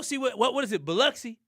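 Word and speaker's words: Biloxi: Beluxy. That's how you say it. Beluxy.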